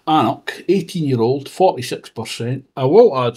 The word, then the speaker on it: anCnoc: Knockdhu whiskies are bottled under the anCnoc name, pronounced anCnoc, because the owners felt that the distillery name is too similar to that of Speyside distillery Knockando.